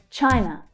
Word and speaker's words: China: Again, we have the ch consonant sound. Ch. China. The consonant sound is followed by the I vowel sound. I as in my. Chai. Chai. And then we have the final unstressed syllable. N. N. N. Unstressed.